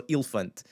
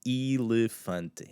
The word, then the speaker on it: elefante: So elefante, if I'm going to pronounce that nice and clean, elefante, and it just has that E sound.